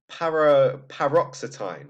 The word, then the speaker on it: paroxetine: It's paroxetine.